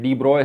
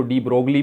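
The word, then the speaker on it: de Broglie: बहुत सारे लोग हैं डी ब्रॉय है जिनको जिसको डी ब्रोगली भी कहते हैं गलत प्रोनाउंस करते हैं डी ब्रॉय तो ये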